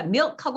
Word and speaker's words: milk: 근데 어떻게 발음해야 돼요? 네. 이름절이에요, 이름절. 한 음절입니다. 그러니까 milk하고 아까처럼 아까 적용하면 뭐가 됩니까?